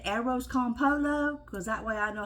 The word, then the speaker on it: arroz con pollo: times this morning I I Googled it to hear the uh the Spanish person say it uh it's air off con pollo and even though I always say arrows con Polo because that way I